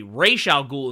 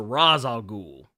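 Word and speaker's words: Ra's al Ghul: get mad at me when I say racial ghoul as opposed to Ra's al ghoul yeah but the thing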